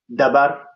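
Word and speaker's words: dhabar: We put more emphasis on the D, so we call it dabar. It's dabar, but it's more of the same. Dabar. Yeah, dabar with a D, DH basically.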